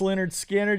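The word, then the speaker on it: Lynyrd Skynyrd: I know a little for sure pronounced Leonard Skinner just got Tuesday's Gone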